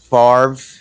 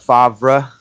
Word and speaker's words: Favre: he pronounces it that the r and the v are out of order father ah i'm still